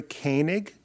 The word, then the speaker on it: Koenig: name is uh kanig so it's a German name k OE is is